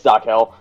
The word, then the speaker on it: Zarkel: I have no clue how you to know, pronounce it. Yeah, it's Zarkel.